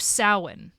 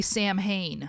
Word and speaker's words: Samhain: And essentially the masks are going to kill the children, which is a massive child sacrifice on the Druid holiday of Samhain.